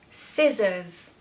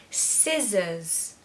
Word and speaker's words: scissors: just going to say you're going to pronounce the first part louder so stress the first syllable scissors scissors so there's a